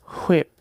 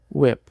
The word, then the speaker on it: whip: Ele diz whip com um sopro irritante em vez de whip. O que o desenho está